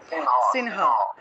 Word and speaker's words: সিংহ: কারণ আমরা জানি অনুস্বার যদি কোনো শব্দের মাঝখানে থাকে তাহলে সেটা ন-রূপে উচ্চারণ করতে হবে, তাহলে সিংহ শব্দটা সংস্কৃতে উচ্চারণ হবে সিনহা, সিনহা, বোঝা গেল।